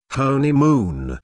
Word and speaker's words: honeymoon: Listen to the stress on honeymoon. There are three syllables in honeymoon, with the stress on the first syllable, honeymoon.